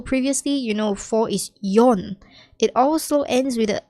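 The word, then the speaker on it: 四: is Jew all right just know that four and seven have two different readings as well four is commonly more known as yon but it can also be she all right seven is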